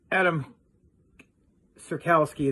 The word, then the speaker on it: Adamski: other good stuff you know guys um Mr Adam sirkowski that's how you say his name it was